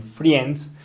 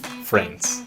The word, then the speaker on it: friends: amigos algunas personas o casi todos cuando están aprendiendo inglés dicen Friends pero no acá la i No la vamos a pronunciar Así que suena Friends Ya vimos esos